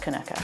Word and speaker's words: Kinneuchar: People who know and are from it, it's pronounced Kinneuchar. Kinneuchar.